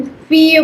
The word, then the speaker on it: fille: And then there is daughter or girl जिसको French में फीय बोलते हैं. फीय ईय का साउंड हमने किया हुआ है ILL ईय, so it becomes फीय.